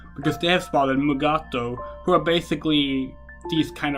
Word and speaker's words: Mugato: poisonous and venomous and the way you pronounce megato is very varied so i was reading up on the mugados did you know they have alternative pronunciations mugaru mugutu and gumato isn't that neat and